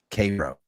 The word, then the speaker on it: Cairo: There's a city right next to me that's spelled exactly the same as Cairo. You know what they call it? Cairo.